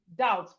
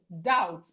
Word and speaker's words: doubt: The first one is doubt. The B here is silent. The B here is silent. This B is silent. It's silent. So we go the out. The out, doubt.